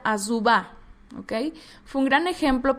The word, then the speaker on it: Azuba: se apartó de él asuba fue un gran ejemplo bueno en hebreo se pronuncia azuba Okay fue un gran